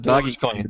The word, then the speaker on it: Dogecoin: doggy dog yes no dogecoin we pronounce it doggy coin yeah that's all right